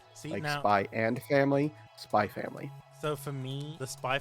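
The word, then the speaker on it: Spy×Family: Spy family. So for me, the spy family, when people call it spy x family, I'm like, "No, don't.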